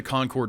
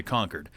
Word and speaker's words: Concord: and there is a Concord North Carolina and that's actually Nascar headquarters as well but they pronounce it Concord up in up in New Hampshire we always say conquered so uh representative Eric